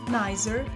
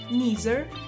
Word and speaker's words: neither: British English typically pronounces the I sound, neither, either. For example, I don't like coffee, neither do I. You can have cake either now or later. American English typically pronounces the E sound, neither, either, like in